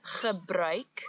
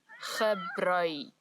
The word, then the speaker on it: gebruik: So the word is gebruik, the ch sound as before, and now we've added a new sound, ui, gebruik.